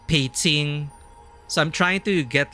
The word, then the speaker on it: Beijing: But for example, Beijing isn't Beijing, it's Beijing.